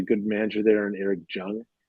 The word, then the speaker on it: Jung: manager there in eric jung it's j-u-j-u-n-g but it's pronounced young and uh he's a